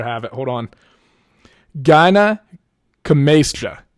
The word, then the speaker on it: gynecomastia: to be gyno or gynecomastia. Am I pronouncing that right? Probably not. Let me make sure I have it. Hold on. Gynecomastia. Gynecomastia, I think is the correct pronunciation.